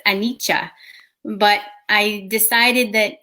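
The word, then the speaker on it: anicca: meditation so um silly the word is actually pronounced anicha but i decided that annika was going to be more um embraced by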